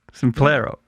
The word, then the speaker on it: Simplero: Simplero? Is that how you say it? Simplero. Yeah.